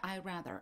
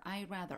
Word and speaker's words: I'd rather: 그냥 I'd rather, I'd rather 앞에 would는 발음할 때 완전히 그냥 무시하세요. I'd rather change teachers.